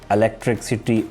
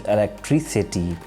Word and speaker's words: electricity: next word is electricity but it's commonly mispronounced by the people like electricity or electricity but the correct usage of the word is electricity you will have to put stress on the last syllable electricity the next word